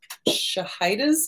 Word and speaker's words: Shahida: And apparently I have been saying Shahida's name wrong. It's Shahida, not Shahida.